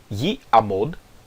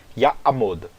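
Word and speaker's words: יַעֲמֹד: Porém, fica difícil pronunciar yi-amod, já que essas vogais são de partes diferentes da nossa boca, né? Então fica mais fácil pronunciar ya'amod.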